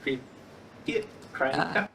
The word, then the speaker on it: Cricut: Is it cricket? It's cricket, like the animal cricket.